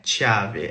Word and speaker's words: chiave: in mezzo a c'è, il suono della sillaba diventa duro, quindi diventa chi, che, come per esempio la parola chiave, chiave, non è chiave, è chiave. E un altro esempio è la parola forchetta, non è forcetta, è forchetta, va bene?